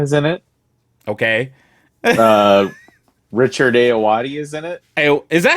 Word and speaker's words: Ayoade: Richard Ayoade is in it. Is that how you say his name? Yeah. Okay. Ayoade.